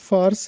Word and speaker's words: فارس: ہے وہ فارس ہے۔ تو اس کا درست تلفظ فارس ہے۔ ایک اور لفظ ہوتا